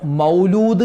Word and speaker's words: മൗലിദ്: അപ്പോൊ മങ്കൂസ് മൗലിദ് ഉസ്താദേ മൗലിദ് എന്നാണോ മൗലൂദ് എന്നാണോ പറയേണ്ടത്. പലരും പറയുന്നത് മൗലൂദിന് പോകുന്നില്ലേ? മൗലൂദ് ഉണ്ടല്ലോ മൗലൂദ് മൗലൂദ്. മൗലൂദ് എന്നല്ല കറക്റ്റ് അതിന്റെ ഉച്ചാരണം മൗലിദ് എന്നാണ്.